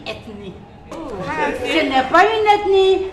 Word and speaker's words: ethnie: On ne dit pas etnie ça ne s'écrit même pas ethinnie. On dit ethnie.